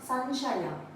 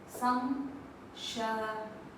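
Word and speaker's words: ಸಂಶಯ: And it's not sanshaya, it's samshaya. If you observe, we have ma everywhere. So remember, whenever we have all these letters after 0, the pronunciation will start with m, ma. Other than those letters, it starts with n.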